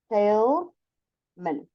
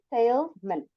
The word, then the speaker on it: salesman: you I am a salesman someone Dale yeah then with an s says I am a Salesman you can say salesman but we usually pronounce it like min almost like m-i-n so